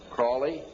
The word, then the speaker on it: Crowley: learned about with Alistair Crawley he likes to be have his name pronounced Crowley to rhyme with holy and the satanists today